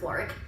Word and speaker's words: Warwick: There's a place called Warwick Castle, spelled Warwick. We just pronounce things weird for some reason. It should be Warwick. It's not. It's Warwick.